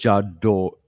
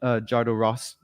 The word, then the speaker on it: Jodorowsky: I can't pronounce it. Jodorowsky.